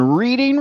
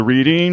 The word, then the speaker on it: Reading: I'm taking a ride on Reading Railroad. You'll pronounce it wrong though. It is Oh. Reading Railroad, as in Reading, Pennsylvania.